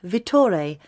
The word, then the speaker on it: Vittore: And if you need to talk to somebody about individual products, then you should contact Vittore or his assistant, Thomas. Ah, what was that again? Vittore. He's Italian. You spell that V-I-T-T-O-R-E.